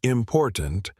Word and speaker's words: important: For example, in the word important, the stress is on the second syllable.